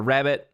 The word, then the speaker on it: Rabb.it: how it works uh rabbit it's rabb.it that's the website but they pronounce it rabbit because they reached out